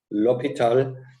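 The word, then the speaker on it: L'Hôpital: the rules of l'hopital this is a french name as you can see and so it's written like hospital but please pronounce it to be lopital and these rules are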